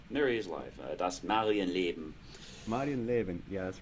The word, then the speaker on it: Das Marienleben: Mary's Life, Das Marienleben.